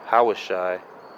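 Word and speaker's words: הושע: And this word right there, Hosea, is actually Hawashai. Um, you know, because we understood. So Hawashai, that's how it's said in Hebrew, in ancient Hebrew.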